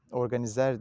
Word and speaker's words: organiser: Fransızca'da bazı mastarlar sonu er diye yazılarak bitiyor. E diye telaffuz ediliyor sonu. Mesela organize mesela. Organizer diye yazılıyor ama organize diyoruz.